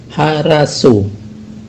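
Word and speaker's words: хорошо: Dalam O pertama dan O kedua itu tidak diucapkan O, ya, tapi diucapkan A. Sedangkan O terakhir tetap diucapkan O, ya, tetap diucapkan O. Maka menjadi haraso, ya, haraso.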